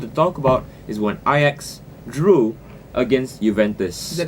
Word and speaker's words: Ajax: Oh, I thought you could call it Ajax. You know, like the dishwasher. Yeah, I know, but they're a Dutch team, Ajax So Amsterdam. So that's the right way of pronunciation.